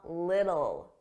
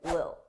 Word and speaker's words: little: talk about a little notice I didn't pronounce those t's I pronounce them as soft D's a little little theth little and I connected them together a little a little now sometimes native speakers will completely drop those t's and they won't pronounce it at all and it will sound like Lil Lil and then again you